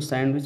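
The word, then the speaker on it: sandwich: सैंडविच में जो है साइलेंट लेटर कौन है, तो दोस्तों सैंडविच में जो है डी साइलेंट है, क्योंकि इसको सैंडविच नहीं पढ़ा जाता, सैंडविच पढ़ा जाता है, ठीक है।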